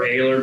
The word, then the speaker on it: Oehler: Oehler. Some pronounce it Oehler, some pronounce it Oehler, some pronounce it Oehler. It really depends. What I tell friends and family, I prefer Oehler, but if you call me Oehler, just don't